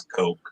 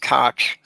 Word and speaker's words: Koch: I mean, technically the pronunciation is Coke, but I'll allow it.